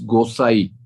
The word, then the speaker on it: Gosai: There is a comment from Maharaj, like it's Gosai, like Bengali. Actually, the N is silent.